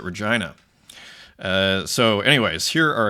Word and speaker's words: Regina: a horse of course I come from Saskatchewan where we pronounce it Regina uh so anyways here